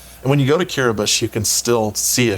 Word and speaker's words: Kiribati: country called curabus and kiribus is even it's spelled k-i-r-i-b-a-t-i uh kiribus is this looks like Kiribati Kiribati right most people would know